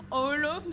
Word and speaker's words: Oulu: So this is former student Oulu. Did I pronounce that correctly?